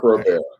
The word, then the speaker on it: Groubert: It's like Stephen Colbert. Groubert. I know, but I would never want that association because he's kind of... I'm only using it for pronunciation purposes.